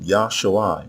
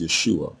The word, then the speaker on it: Yahshua: I again must stress that the noun Yahshua, which is mispronounced Yeshua, is not a personal